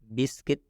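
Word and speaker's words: biscuit: क्या हो जाता है यू साइलेंट हो जाता है मतलब इस यू का उच्चारण नहीं करना है इसमें देखिए हम पढ़ रहे हैं इसका उच्चारण कर रहे हैं बिस्किट इसमें य का उच्चारण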